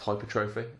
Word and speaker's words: hypertrophy: so let's get started hypertrophy you may have heard it pronounced hypertrophy either is absolutely fine and but essentially hypertrophy